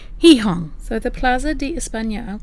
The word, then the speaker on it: Gijón: And this one is for Gijon, which I have since found out is pronounced Gijón.